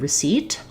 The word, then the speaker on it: receipt: Another example would be the word receipt. Letters and sounds, there's some silent letters in there.